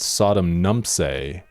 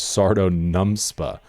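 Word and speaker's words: Sardo Numspa: Though I may have said Sodom Nums after later realized the character's actual name was Sardo NumPa."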